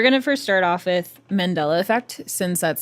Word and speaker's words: Mandela: Yeah, but you pronounced it awkwardly, so Mandela.